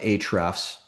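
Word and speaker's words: Ahrefs: like Semrush or uh Hrefs, the A is silent.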